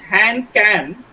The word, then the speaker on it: Han Kang: In Korean language, it's just Han Kan, but in English we pronounce it as Kang.